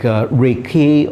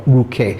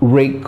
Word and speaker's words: Ruike: So Ruike would be the correct pronunciation, but if we were to anglicize it, it's more like Reike or Ruike. So I'm just going to say Ruike, but it's definitely not Rake or Rook. It's two syllables.